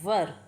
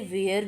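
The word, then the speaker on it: were: हम आगे देखते हैं डब्लू ई आर ई वर मतलब थे कुछ लोग इसे वेयर भी बोलते हैं जो कि गलत होगा इसकी सही प्रोनाउंस होगी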